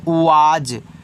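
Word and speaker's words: was: डब्ल्यू ए एस इसको पढ़ते हैं वाज। तो यहां देखो डब्ल्यू से आपका व ए से आ का मात्रा और एस को यहां पे आपको जा के रूप में यूज़ करना है। तो ये आपका हो जाएगा वाज।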